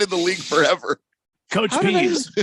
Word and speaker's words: Pees: the defensive coordinator of the patriots uh dean pease well why haven't i heard this name before it is spelled p e e s p i don't